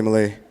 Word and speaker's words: Malay: Is it Malay or Malay? Malay. Malay. Yeah, just like how we pronounce the country.